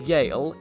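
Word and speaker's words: Eale: highly advise reconsidering your life choices product beast Yale yes that's how it's pronounced is an earth beast with a thousand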